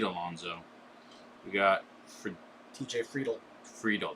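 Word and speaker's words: Friedl: Friedel, that's how you pronounce the name, and Joe Ryan, Prism rookie.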